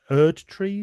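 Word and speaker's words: Erdtree: But it's uh worth noting that this includes the shadow of the erd tree. Is that how is that you pronounce that?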